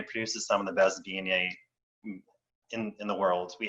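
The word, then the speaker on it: Viognier: dna um it's not my mom always calls it viagner but you know the g is silent it is dna and um it's a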